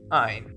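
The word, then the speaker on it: -yne: So a double bond is written as ene, en, pronounced een, and a triple bond is written as ein, yn, pronounced ein.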